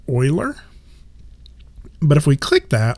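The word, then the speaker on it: Euler: looks like it says uler filter EU l e r it's actually pronounced Oiler but if we click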